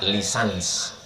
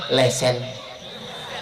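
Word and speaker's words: licence: Tulisannya licen C. Cara membacanya lisans. Kalau di Malaysia lesen.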